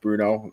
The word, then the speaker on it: Bruno: Our notes had him as Brune. It's pronounced Bruno.